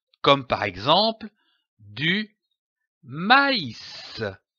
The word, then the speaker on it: maïs: cet accent très m'as indique que la voyelle qui précède doit être prononcée séparément comme par exemple du maïs maïs je lis un mot